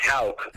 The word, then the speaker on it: Houck: But it's pronounced Houck. Just for clarification. Just like it's spelled too.